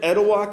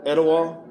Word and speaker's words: Etowah: across the way there I think I'm pronouncing that right is that is that edwa County I'm sorry what is that how you pronounce it Eda okay thank you guys